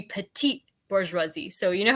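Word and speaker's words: petite bourgeoisie: what I found that petty bouri is like it's supposed to be petite bouri so you know how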